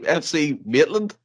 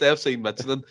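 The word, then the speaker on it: FC Midtjylland: There's a lot of J's in there. I thought I was the worst in this show. That by far tops it. It's FC Michelin.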